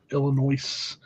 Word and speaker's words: Illinois: Just remember, folks, that S is silent. Illinois.